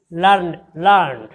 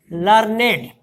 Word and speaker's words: learned: Now this word, if you pronounce, you can pronounce in one time. Learned. Learned mana seekha. In adjective, you have to make it in 2 parts. Learned. Learn means 2 syllables.